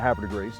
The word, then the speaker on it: Havre de Grace: We locals call it Havre de Grace. I mean, confuses the French a little bit how we pronounce it, but yeah, it's how you pronounce it locally.